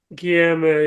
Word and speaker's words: Guilherme: Pardon me if I get this pronunciation wrong, but Guilherme, is it? Guilherme? Yeah, mate. Guilherme, yeah.